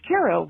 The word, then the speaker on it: Cairo: and palm trees but it is pronounced Caro like the syrup anyway thank you so